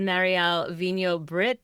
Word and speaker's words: Marielle Vigneau-Britt: So for those of you listening and watching, this is Marielle Vigneau-Britt.